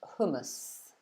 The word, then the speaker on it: hummus: People are always writing it, spelling it differently, but the pronunciation in England is hummus.